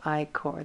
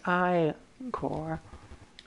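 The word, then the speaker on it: ichor: fill it with magical I core that's pronounced i Gor choose wisely thing want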